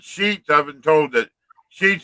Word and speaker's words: Sheetz: And What Sheets you- is all over the place up here. Which sheets? How you spell that? SHEETZ. Oh, okay. Like sheet with a Z.